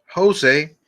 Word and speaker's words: Jose: Jose, así se pronuncia José en inglés, Jose, called while I was watching the news.